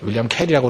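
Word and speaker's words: Carey: 원래 윌리엄 커리라는 사람이 캐리죠. 윌리엄 캐리라고 그러는데 뭐 캐리라 그러긴 하겠대.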